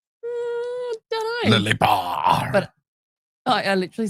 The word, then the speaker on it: Lelepa: Lelepa. Okay, so Matt and I have been have been saying it wrong all these years. We believe, we think. So what we are hearing, it's Lelepa.